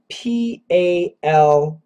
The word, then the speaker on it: paltry: be wrong Vlad asks the question p-o-u-l-t-r-y and p-a-l-t-r-y so poultry means birds like chickens uh paltry